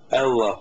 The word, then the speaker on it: Allah: ilah kelimesi Allah kelimesidir Allah Aslı ama Arapçada e a gibi telaffuz edilir e ile a arası ibade Allah söyleyemiyorum benim